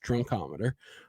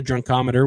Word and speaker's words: drunkometer: Yeah, that's how it's pronounced. Yes, drunkometer, which would be the first practical instrument of breath alcohol analysis developed in 1938. However, the drunkometer was complicated and had low reliability.